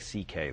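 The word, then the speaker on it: Szekely: My Hungarian grandfather's name was C.K., but it's spelled, it looks like, it's a mess. It's S-Z-E-K-E-L-Y, and it sounds like C.K., though.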